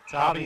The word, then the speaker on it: Tarby: Tarby as in Barbie.